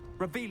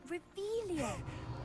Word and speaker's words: Revelio: Rebellious. You're saying it wrong. Ugh, Revelio.